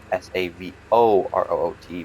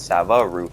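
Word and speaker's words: Savoroot: But yeah, Savo root, not Sava. See, I was pronouncing it Sava root and not Savo.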